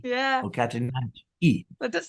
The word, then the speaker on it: Catananche: always sort of thought any Latin name with an or plant name with an e on it, you pronounce the e. So that's why I say Catananche Yeah, or Catananche.